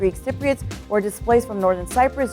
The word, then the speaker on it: Cypriots: So one of the things that I learned while helping make this video was that it's pronounced Cypriots, not Cypriots.